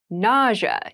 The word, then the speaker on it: nausea: itchy rash ity rash nausea NAA NAA NAA is a very interesting word with an interesting spelling nausea is the pronunciation nausea refers to a